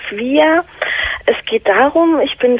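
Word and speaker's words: Swyer: Ja, genau, wird auch ausgesprochen Swire.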